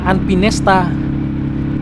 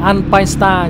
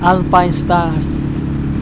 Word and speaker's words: Alpinestars: Tôi thấy nhiều người đọc là Alpinesta, nhưng mà đọc đúng của nó phải là Alpine Star nhé. Alpine Stars. Và nó có chữ S chứ không phải là chữ T ở cuối.